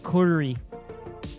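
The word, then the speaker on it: Gyuri: No, it's g y u r i but it's pronounced uh kuri.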